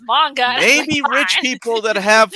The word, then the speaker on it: manga: no one ever pronounced i used to say main gun everyone's like no it's manga maybe rich people that